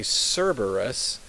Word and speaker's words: Cerberus: in English we say Cerberus but in Latin the C is like a k notice how there are